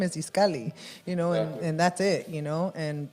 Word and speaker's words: Itzcalli: you know you're like no my name is iskali you know and that's it you know and